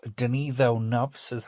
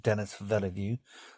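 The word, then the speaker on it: Denis Villeneuve: I've watched the second part of Denel says actually how you pronounce his name, not Dennis Velu.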